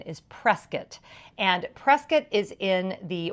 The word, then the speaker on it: Prescott: you know if you live there the correct pronunciation is Prescot and Prescot is in the White Mountains so